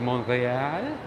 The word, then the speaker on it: Montreal: proper the proper way to say montreal is montreal all right no i don't speak french my